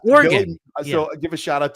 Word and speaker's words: Oregon: People get very angry in chats of those that I'm on about how I pronounce Oregon. Yeah, I was gonna yell at you when you said it. It's Oregon.